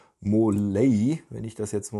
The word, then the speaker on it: Måløy: und in der nähe von marl würde der deutsche sagen in wahrheit wird der ort ausgesprochen wohl wenn ich das jetzt